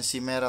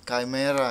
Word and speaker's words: Chimera: Chimera guys, bukan si merah tapi Chimera ya. Bacanya Chimera.